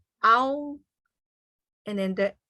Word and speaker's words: au: So the home vowel for AU is ow. Okay. Owl, like owl. And then the word in Hmong, you put the vowel and the tone together, how, owl, and then the S,